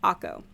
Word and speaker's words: Acre: It's spelled like acre, but when I looked it up, it's pronounced Akko, and it's in Israel.